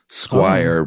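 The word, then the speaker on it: Squier: Uh, it is spelled square, but he swears it's pronounced square.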